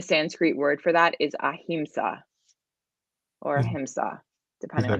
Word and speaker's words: ahimsa: of and the sanskrit word for that is ahimsa or himsa depending on how you pronounce it is that on there it's not